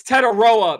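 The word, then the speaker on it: Tetairoa: I called them Ted McMillan, but it's Tedaroa McMillan. Tedoroa.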